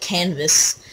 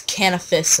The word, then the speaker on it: Canifis: i wanted to i would study how to pronounce canifis i called it canvas until when i started making videos or something tomorrow i started making videos and some guy like he's like it's canopus and i look and now i call cannabis